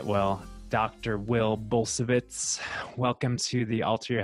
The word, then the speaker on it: Bulsiewicz: It's a Polish name and you're kind of hitting on exactly the right way to say it, which would be Bulsiewicz.